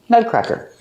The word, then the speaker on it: nutcracker: Nut. Use a short sound like cup and up, nut. And then cracker. Crack. Make the sound ah like hat and black cat. Crack. Cracker. Nutcracker.